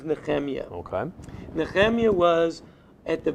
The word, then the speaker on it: Nehemiah: In English, they pronounce it as Nehemiah. In Hebrew, his name is Nehemiah.